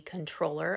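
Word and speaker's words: comptroller: He is running for a position called the controller. I know it is spelled comproller for the state of Texas.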